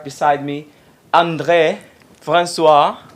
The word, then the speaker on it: André: And I have right beside me André Francois. Is it the right pronunciation, André? It was pretty good. Yeah, that's really good.